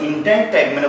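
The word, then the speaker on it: integument: সুতরাং দেখো ইন্টাইন ট্যাগমেনে পরিণত হয়। আমার সাথে তো উচ্চারণ করবো, দেখো এন্টারটেইনমেন্ট, ইন্টাইন ট্যাগমেন, ইন্টাইন ট্যাগমেন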